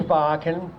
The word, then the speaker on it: Bachan: My name is Bachan. It rhymes with rocking Bacan.